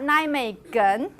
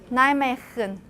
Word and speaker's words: Nijmegen: after the n, but the g sound in it's pronounced as a velar fricative. It's pronounced as velar fricative. So it's not Nijmegen. Can you do a velar fricative? Nijmegen.